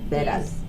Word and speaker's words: Vedas: Vedas. Say it properly. Vedas. Okay, my pronunciation, please, I brutally ruin this every time